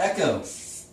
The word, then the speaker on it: echo: What about echo? CH. That sounds like a K.